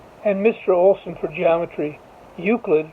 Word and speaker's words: Euclid: Mr Olsen for geometry Euclid rhymes with putrid he assigned everyone a